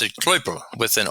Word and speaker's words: Klöppel: In German, they pronounce it Kloppel with an O, with an umlaut over the OE.